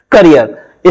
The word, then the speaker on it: career: हम डिस्कस करते हैं करियर स्पेलिंग देखिए सी ए R double E R right तो इसकी स्पेलिंग में सिक्स लेटर्स है और ई डबल है तो इस वर्ड को आपको साउंड करना है करियर okay C ए आर